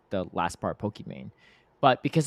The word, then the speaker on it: Pokimane: It's spelled Iman, which is like the last part Pokimane. But because it's pronounced Iman, her whole intention when she created her username was so that it would be phonetically pronounced Pokemon, essentially, just like Pokemon.